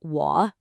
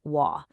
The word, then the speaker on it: 我: It's a third tone. A very common mistake for learners is to say it flat. A third tone has a very specific shape.